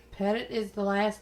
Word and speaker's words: Petit: And while other people have pronounced it Petit, Right. it is Pettit. Pettit is the last name, Pettit.